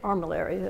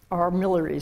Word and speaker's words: armillary: very major instrument was the observational armillary sphere, as you British say, armillary, as Americans say.